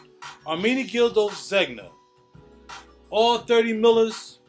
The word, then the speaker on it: Ermenegildo Zegna: The Ermenegildo, how do you pronounce that? Ermenegildo Zegna? Ermenegildo Zegna.